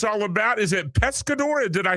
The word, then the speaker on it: Pescador: Is it Pescador? Did I say it correctly, Harry? You absolutely did. Pescador is my feature debut.